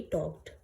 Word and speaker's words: talk: बात करने को हम टॉक कहते हैं, सेकेंड फॉर्म इसकी हो जाएगी टॉक्ड। ठीक है, TAL की स्पेलिंग होती है लेकिन यहाँ पर L साइलेंट होता है, इसलिए हम टॉक कहते हैं, टॉक।